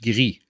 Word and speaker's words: Gris: Now if we move on to number 9, and Gris, or how it's supposed to be pronounced, Gris.